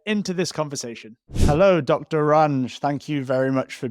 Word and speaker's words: Ranj: saying Dr range is that right yeah know range is absolutely fine yeah you I honestly don't